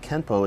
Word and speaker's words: Kenpo: this would mean that Kempo is technically spelled with an N but should be pronounced with an M through romanization it is